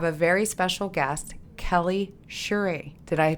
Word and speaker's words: Shirey: today we have a very special guest Kelly shuy did I pronounce that correct shyri shyri I am Infamous for always mispronouncing last names